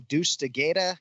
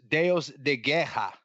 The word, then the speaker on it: Deus de Guerra: Deus de Guerra, God of War. Is that right? Deus de Guerra. Deus de Guerra. See? Spell it.